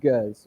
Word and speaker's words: Gueuze: The first one is Gueuze, which is spelled G-E-U-Z-E, Gueuze. The second would be a fruit lambic.